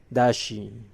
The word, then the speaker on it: does she: Dashi is pronounced dashi in conversation.